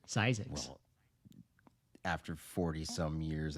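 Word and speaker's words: Zzyzx: Road ah thisx our our old friend zyx is how it's pronounced ZX well after 40 some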